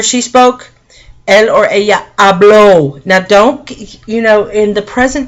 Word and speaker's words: habló: There's a difference in accents. It's hablo, and this is habló. You have to say it right, or else you're saying, instead of saying he spoke, you're saying I speak.